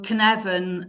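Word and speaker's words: Cynefin: the working title for that is conect so Canan um which is spelled c y NE e f i n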